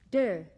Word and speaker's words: Te: concepts of the book Dao meaning way it is spelled t a o dur meaning virtue or power spelled te Jing spelled